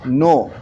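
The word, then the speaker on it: know: फिर है नो, K silent है इसमें।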